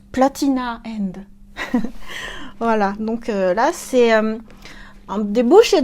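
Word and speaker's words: Platinum End: enfin il y a platinum and qu'on prononce platina end voilà donc la c1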